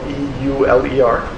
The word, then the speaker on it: Euler: It's called E because it's named after Leonard Euler, and Euler is spelled E-U-L-E-R. German, so it's spelled E-U, Euler.